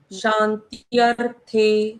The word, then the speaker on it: शांत्यर्थे: यहाँ हमने क्या किया, शान त्यर थे, त्य के बाद थे के थ ऊपर जो रेफ की मात्रा है उसको पहले बोला, हम्म। त्यर, और फिर थे का उच्चारण किया।